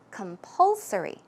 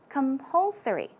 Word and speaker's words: compulsory: good and we have compulsory this is a difficult word so keep it in mind the pronunciation the stress goes right here so it's compulsory compulsory as I mentioned it